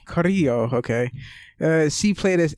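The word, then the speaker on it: Carrillo: full on Spanish so it's got the two RS that you have to roll and then the two L's which is pronounced like a y so that's super hard so Coro Coro okay uh she played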